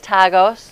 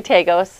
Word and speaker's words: TAGOS: What's the right way to pronounce that? Yes, it is TAGOS, though okay. I've heard people say TAGOS as well.